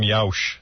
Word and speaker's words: Yauch: Yauk? Adam Yauch.